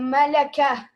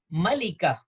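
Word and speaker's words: ملكة: Mulcahy or do we say queen but we pronounce it wrong in in urdu it's a melaka it should be Monica hey Malik is king so should be Malika just just add a term or buta at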